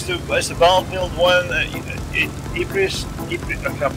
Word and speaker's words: Ypres: Ypres. I can't pronounce it. Ypres That's it.